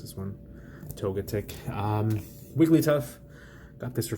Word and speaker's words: Togetic: toget chick here what every prayer and I pronounce this one togetic weekly tough about this for free it's part